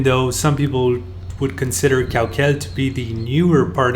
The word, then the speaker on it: Caucel: The name Caucel means in the Mayan language place of stones to grind and is pronounced Cauquel.